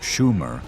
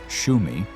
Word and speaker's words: Shumer: Because the word Shumer was probably pronounced as Shumi, or in short form as Shum, it is likely that when the Hebrews heard this word, they perceived it as Shem.